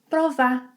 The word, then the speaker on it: provar: When emotions are high, we end up making some reductions such as ‘para’ to ‘pra’, we often omit the final -u sound of verbs in the past, and we may omit the -r sound of verbs in the infinitive form. So instead of ‘precisou’, Gustavo says, ‘precisô’. Instead of ‘provar’, he says ‘prová’.